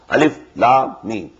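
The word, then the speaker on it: الم: These are pronounced separately, and so they are the broken into pieces. Not pronounced as Alif Lam Mim Alam, no. Alif Lam Mim.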